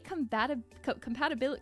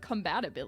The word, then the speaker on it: compatibility: So I thought it would be nice to start out with a compatibility, not combatability. Did I mess your pronunciation up because I said it wrong?